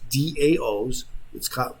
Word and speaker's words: DAO: So here it is: decentralized autonomous organizations (DAOs). They pronounce it DAO, like the Dow Jones Industrial, but the DAO